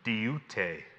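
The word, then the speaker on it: δεῦτε: In Greek, it's this word diute, spelled D-E-U-T-E, pronounced diute.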